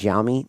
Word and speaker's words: Xiaomi: We know that BYD, I forget how you pronounce this one. It's Xiaomi. Xiaomi. I think it's Xiaomi.